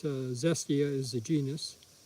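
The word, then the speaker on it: Xestia: it doesn't have a common name it's a zestia is a genius it's spelled x e s t i a this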